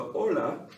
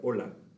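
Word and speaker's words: hola: exchange names so the ola of course is how you would say hello or hi notice that the h is silent it doesn't make a sound there ola the komodejamas this question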